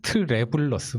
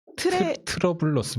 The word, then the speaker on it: 트래블러스 맵: 트래블러스 맵입니다. 트러블러스 맵이 아니고요.